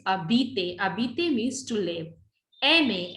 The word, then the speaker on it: habiter: H is silent. So we call this habiter.